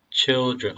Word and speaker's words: children: children, 음절 두 개입니다. 두 개. children, dr 발음은, 그래서 dr 발음은 드가 아니라 주 발음에 더 가깝습니다. 그러므로 children. Many children were born to them after the great flood.